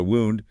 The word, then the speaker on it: wound: So wound, the past tense of to wind, rhymes with found.